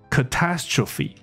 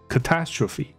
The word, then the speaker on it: catastrophe: 所以它的发音是 catastrophe，中音在第二个音节 catastrophe，那它变形